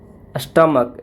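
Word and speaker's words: stomach: जैसे एग्जांपल में देख लिया जाए तो स्टमक एस टी ओ एम ए सी एच इसका प्लुरल बनाना है।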